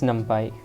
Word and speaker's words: NumPy: but let's get into it so what is numpy uh so it is basically a python module it is actually pronounced num uh it is actually pronounced numpy